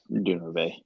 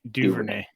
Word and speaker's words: Duvernay: I mean, I was looking at the snap percentage for Dunervey. Is that how you even say his name? I don't even know. Duvernay.